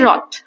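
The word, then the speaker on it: wrath: फिर है रथ। रथ में डब्ल्यू जो है वो साइलेंट है। इसे हम साइलेंट इसको हम नहीं बोलते हैं।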